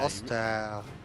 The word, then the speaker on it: Ostheer: Can you say Ostheer? Yeah, Ostheer. They really do. They drag out the double E's.